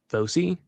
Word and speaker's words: foci: Bifocals are a type of glasses, but they have two foci.